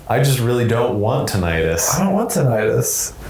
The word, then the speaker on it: tinnitus: Can we just talk about who in the world pronounces it tinnitus? Tinnitus? Like, okay, it's not arthritis, it's arthritis. Tinnitus. I don't know, man. I understand that they're both correct, I guess, by the audiology community.